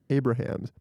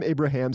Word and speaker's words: Abrahams: Written by Jerry Zucker, David Zucker, and Jim Abrahams. You know what? I still said it wrong. It's Jim Abrahams.